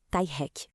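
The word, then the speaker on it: taiheki: E o terceiro pilar é o Thack, que a gente pronuncia tai hack.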